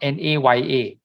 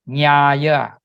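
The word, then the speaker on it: ñāya: The N, you notice the N here has the wavy line above it. The N with the wavy line above it is pronounced NY, Nya. It is not NA, it's not NAYA, it's not Naya, it's Nyaya. Okay, the N with the twiddle is pronounced as NY.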